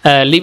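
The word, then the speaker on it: live: আমরা বলে থাকি যেমন লিভ অর্থ বসবাস করা এল আই ভি ই লিভ বসবাসের ক্ষেত্রে উচ্চারণটা ভিন্ন হয়ে যায় এল আই ভি ই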